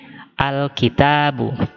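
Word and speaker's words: الكتاب: termasuk al-qamariyah sehingga kalau kita masukkan Al menjadi Alkitab selanjutnya qolamun juga Oh huruf qaf ini juga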